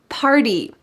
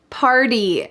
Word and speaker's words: party: baseball game last night party party notice that the T changes to a d here in American English in my opinion there